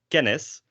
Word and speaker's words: kennis: So here we have kennis. We have two N's here. So the syllable distribution is kind of like kennis, although these two N's kind of coalesce into one N sound.